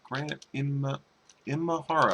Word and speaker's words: Imahara: Grant Imahara.